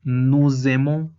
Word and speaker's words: nous aimons: Y recordemos que el momento de ligar una S con una vocal se escucha como una Z. Es por ello que se pronuncia nous aimons.